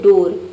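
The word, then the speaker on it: door: अगर उअर पढ़ते तो इसका प्रोनंसिएशन हो जाता है डअर। लेकिन डअर नहीं पढ़ते। इसे पढ़ते हैं डोर।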